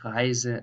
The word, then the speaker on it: Reise: So this is a normal Z, tausend, Reise, lesen.